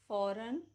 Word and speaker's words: foreign: Rule number 1, जी is usually silent बिफोर n. For example, design, assign, reign, campaign, line, foreign, new, resign, benign.